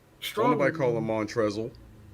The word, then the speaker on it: Montrezl: i said ferocious slam the l is silent mantras are real with the ferocious slang why put the l in his name why if this is going to be montrez why put it hell